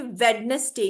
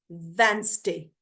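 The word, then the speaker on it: Wednesday: ठीक है यहां पे ये वेडनेसडे नहीं this is नॉट वेडनेसडे this is वेनसडे वेनसडे डब् वे एन एस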